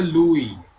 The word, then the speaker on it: Louis: কিন্তু উচ্চারণ হবে লুই। লুই। লুই।